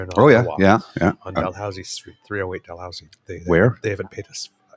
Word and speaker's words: Dalhousie: This is Dalhousie, not Dalhousie. Yes. Because it's Ottawa. Yes. And that's because Lower Town is like very francophone. Yes. So it's the Dalhousie pronounced by the francophones is Dalhousie. Dalhousie. Yeah. Dalhousie. And it's stuck. And then the always been Anglophones then re-anglicize that as Dalhousie.